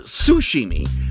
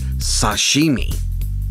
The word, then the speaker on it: sashimi: Additionally, a lot of people make the mistake of calling it sashimi or sushimi. The proper pronunciation is sashimi.